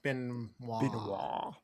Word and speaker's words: Benoist: Yes, it's Benoist, yes. Okay. I wasn't sure if I needed to go more French with it, like Benoist.